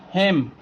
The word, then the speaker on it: hymn: then the silent letter, then the N will be silent letter in that word. You can see here, autumn, we are not pronouncing N here. Column, dam, hymn, condemn.